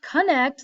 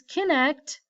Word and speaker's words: Kinect: that an Xbox Kinect, it's not connect like C-O-N-N-E-C-T, it's Kinect because if you use the Xbox Kinect, you have to move to play the game.